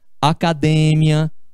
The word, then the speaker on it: academia: é a sílaba tônica como é por exemplo a palavra é democrácia no lugar de democracia académia no lugar de academia aqui a gente tem